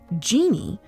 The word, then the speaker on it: Jinni: Genie, spelled Jinni, but pronounced how we always know it, genie, in Arabic mythology is